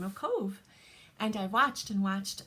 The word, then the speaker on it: Cobh: from a colorway created in the name of Cove and I watched and watched and um haven't